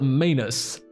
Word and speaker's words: Manus: I fought Manus because it rhymes with anus.